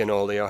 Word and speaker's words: Onoleo: hijaz feeling that the enolio has or own Leo depending on how you say it this is the